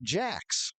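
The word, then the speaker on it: Jacques: a c ques but I was told by teammate con Connor Williamson that he pronounces it Jack he's out of Lake Orion Michigan is Andy Jack Buckey is trying to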